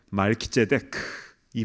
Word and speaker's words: 멜기세덱: 앞에 멜기는 말키라고 발음을 하는데요. 그 뜻은 왕이라는 뜻입니다. 그리고 뒤에 세덱은요. 제데크 이거는 의롭다. 의라는 뜻이에요. 그래서 멜기세덱 말키데크이 말은 의의 왕이다라는 뜻입니다.